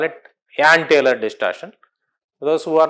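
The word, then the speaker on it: Jahn: Some call it John but uh some call it Yan. J is silent. Uh so we call it Yan Taylor distortion. Those who are not familiar they call it John Taylor distortion.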